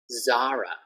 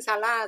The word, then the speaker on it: Zara: So I heard a lot of people say, oh, I'm going to go shopping, Salah, Salah. And what? You're going to go to Salah, the hotel? So Salah, Ayutthaya, right? Like the hotel. And Zara. Zara, the clothing brand.